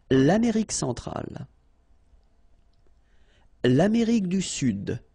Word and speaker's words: Sud: L'Amérique centrale, l'Amérique du Sud, here you should pronounce the D, sud, sud, okay?